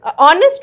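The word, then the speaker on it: honest: आगे हम क्या लगाएंगे ऑनेस्ट वर्कर तो ऑनेस्ट में स्पेलिंग जरूर इसकी एक्स है मगर इसका जो साउंड होता है वावेल का साउंड आता है ऑनेस्ट और कसम ए जाता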